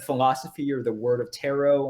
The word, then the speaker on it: Tarrot: And Tarot is spelled Tarrot. I say that because I know everyone will think it's Taro, who are just listening to the podcast and not watching this on YouTube.